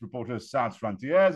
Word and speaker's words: Reporters Sans Frontières: He is the head of the Indo-Pacific desk for RSF, Reporters Without Borders, properly pronounced Reporters Sans Frontières.